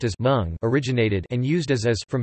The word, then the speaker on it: mung: The English word mung, correctly pronounced as mung, originated and used as from Hindi word munga mung, which is derived from the Sanskrit word mudga, mudga.